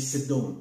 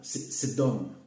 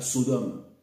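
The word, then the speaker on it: סדום: biblique hébreu, on dit Sedom. Sedom. Là je vous dis avec la prononciation phonétique comme ça. Sedom. Sedom. D'accord? C'est comme ça que disent les Hébreux. Sedom. Ils ne disaient pas Sodome.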